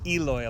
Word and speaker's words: Eloy: because I hear Americans say Eloy a lot.